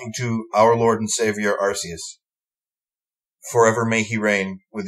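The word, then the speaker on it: Arceus: whole lot um and I don't like people who pronounce it archus because they don't want to be like oh you're kind of saying but in in English arus yeah hey no dude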